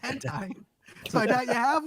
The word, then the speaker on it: hentai: Elizabeth Reddick so I doubt there's one it's pronounced hentai so I doubt you have one Elizabeth Reddick